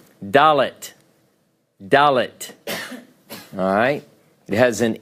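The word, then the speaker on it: ד: along on the chart all right next letter dalet dalit alright it has an English approximation of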